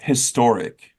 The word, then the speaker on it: historic: historic if you're saying if you're pronouncing the H it would be a historic not n historic have you heard that